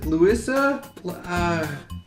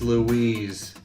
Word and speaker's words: Louise: I also have a hard time pronouncing names, especially if they're anything French. Ah, stupid French! Louisa? It's Louise, dummy.